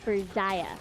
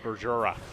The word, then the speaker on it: Berjaya: They're like, oh, it's Jai. Berjaya. Berjaya. Not Berjura.